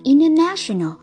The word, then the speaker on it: international: Các bạn thấy ở đây NT đứng giữa I và E nên chính vì thế T câm, chúng ta đọc là international.